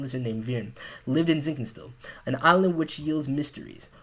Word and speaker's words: Zinkenstill: A boy named Gran and a talking wind lizard named Virn lived in Zinkenstill, an island which yields mysteries. One day, they came across... I completely forgot that it's pronounced Zangstil.